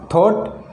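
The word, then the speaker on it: thought: ह साइलेंट हो जाएगा जैसे देखो वोट यानी खरीदा थॉट यानी सोचा नाइट यानी योद्धा के एन आई जी ह दी ह की कोई ध्वनि नहीं निकले इसका कोई साउंड नहीं निकल रही है तो यह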